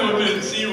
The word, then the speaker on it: Woodmansee: The famous poem, Leland Woodmansee rhymes with. Chimpanzee. Chimpanzee. And lastly, as Lori mentioned,